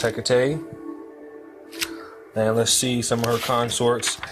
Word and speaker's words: Hecate: said the last video Hecate is is HEK a te okay and this pronounced Hecate then let's see summer